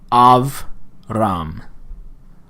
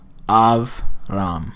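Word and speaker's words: אַבְרָם: want to know is a Shiva is silent if it occurs after a short vowel. If it occurs after a short vowel. And that would be the case here. Av, ram. Av, ram.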